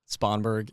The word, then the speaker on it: Spongberg: Spongberg. Spongberg is how you pronounce it. The way you spell it, sponge without the E, and then BERG.